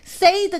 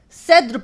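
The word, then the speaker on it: said: sai 위로 바뀝니다 그리고 발음이 세이드 가 아니라 3 쎈 세드 바뀌게 돼요 그래서 여러분이 없이 또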